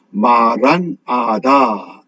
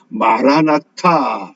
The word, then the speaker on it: 마라나타: 이것이 헬라어 성경에서는 아람어로 마란아다 이렇게 번역을 합니다. 이 마란아다를 우리가 영어식으로 발음을 하니까 마라나타 이렇게 우리가 주로 발음하고 기억합니다.